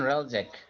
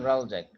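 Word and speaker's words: Hreljac: Ryan রালজ্যাক। Ryan রালজ্যাক। হুম, আচ্ছা। মানে এইচ In উচ্চারণ হবে না 1990, আর কি, এইচ উইল বি সাইলেন্ট।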